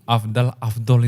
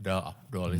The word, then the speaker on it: afdal: Itu Afdol itu sama ternyata ya. Afdal itu kan pengucapan aja. Kirain Afdol itu bahasa gaul loh.